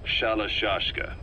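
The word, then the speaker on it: Shalashaska: The guerrillas were using the name amongst themselves, and by the time I got to hearing about it, the pronunciation had wound up as Shalashashka. So, half gulag, half hero's sword.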